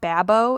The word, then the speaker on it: Babo: Um, I think it's pronounced Babo. It's BAB O Botanicals and they have a handful of different mineral sunscreens.